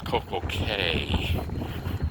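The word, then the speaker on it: Coco Cay: at Coco Key because apparently little islands and stuff like in Florida we have the Florida Keys, you know, key.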